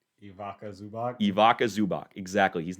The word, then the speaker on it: Ivica Zubac: You know, Nocic is not going to stop for I don't know how to pronounce his name. Ivica Zubac.